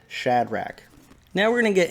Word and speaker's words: Shadrach: shadrach meshach and abednego does anybody say shade rack i'd like to see that in the comments if that's how you say the name i've always said shadrach now we're going to